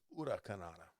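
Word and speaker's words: Huracanrana: Or is that why you pronounce it now? Ura? Yeah, Ura. That's what Konnan told me to pronounce it one time. Okay. He said it's Ura Kanrana.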